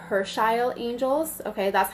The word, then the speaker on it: Herschiel: like who these angels are so they're called Hersh Isle angels okay that's how you pronounce it I wrote it in the description of this video it's pronounced Hirsch Eyal Hirsch Eyal angels why they're here who they are why